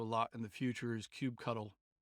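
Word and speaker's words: kubectl: in the future is cube cuddle cube cto it's spelt like this cube ctl and it's rather cumbersome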